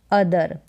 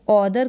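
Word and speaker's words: other: यहाँ पर है ईच अदर, इसको ऑदर करके ना पढ़ें, अदर हो जाएगा, ओ को अ पढ़ा जा रहा है, और ए का उच्चारण बड़ी के रूप में होता है।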